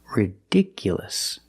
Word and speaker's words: ridiculous: look at this word ridiculous the stress moved to the second syllable ridiculous so the last two syllables are short it's not U it's